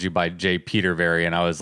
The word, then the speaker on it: Petervary: Yeah, just like it's spelled. It's Petervary.